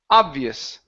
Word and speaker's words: obvious: let's go to um the word obvious the stress at the begin beginning obvious obvious okay very good okay